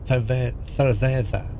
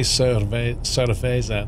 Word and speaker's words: cerveza: A lot of the words, you have to put your tongue between your teeth and go cerveza.